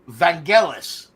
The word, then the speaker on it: Vangelis: you don't know who you don't remember who vangel is Vangelis I don't know how the Greeks pronounce his fraking name I don't speak Greek